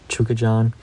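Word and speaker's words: Chukhadzhian: I know my last episode, I didn't even try to attempt that, but hearing his name after the fight, I'm semi-confident that's how you pronounce it, Chukajan.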